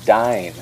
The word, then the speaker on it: DYNE: actually a dinner I was doing for a dine app it's actually a new app here in